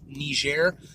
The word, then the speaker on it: Niger: ultimately I believe sit say Niger in relation to the pronunciation nee share but before I did